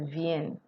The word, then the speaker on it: viennent: So the N is pronounced. This is where we have the viennent.